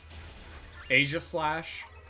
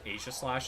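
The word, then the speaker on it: Aegislash: I used to pronounce Asia Slash as Asia Slash instead of Asia Slash because I think it's supposed to be Asia Slash because of like the Asia shield. Like that's the lore.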